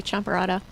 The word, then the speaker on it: champorado: I'm going to probably pronounce this wrong, but champorado? Yes, that was it. That was it. Yeah. And I think you Yeah. were pronouncing it correctly, champorado.